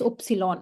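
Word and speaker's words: Ypsilon: introduce this symbol somebody it's not y it's oopsilon okay or is word pronunciation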